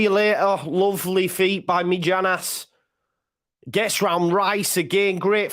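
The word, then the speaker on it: Mijnans: on the couch cross comes in minons or mijanas as I called him is called my nons medianus it's like land maginus you don't know dear until you either connect correct pronunciation me Janice my pronunciation's better anyway nah get up he's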